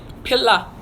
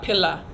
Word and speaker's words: Pila: So how do you say pillow in Patwa? Pila. So pillow in Patwa, Pila. Pila, it's P-I-L-A. Pillow is Pila.